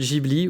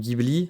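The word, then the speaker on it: Ghibli: car les studio de giibli ou Gibli ça dépend comment on le prononce se serait inspiré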